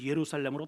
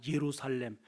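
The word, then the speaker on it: ירושלים: 묵상하셨으면 좋겠어요 혹시 내가 예루살렘 여러분 예루살렘이라고 하는 것은 원어적으로 보면은 예루살라임이라는 발음이에요 한번 따라합시다 예루살라임 거기에 예루라고 하는 뜻은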